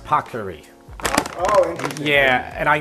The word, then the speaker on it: paccheri: It's pronounced paccheri.